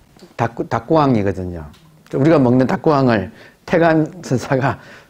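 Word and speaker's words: 沢庵: 닭구가 일본식 발음하면 택자, 못 택자, 택. 암은 암자, 암자, 택암. 태감을 일본식 발음이면 닭구왕이거든요.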